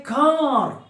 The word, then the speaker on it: car: Somebody is in a car. I heard the sound of a car. Actually, R is silent.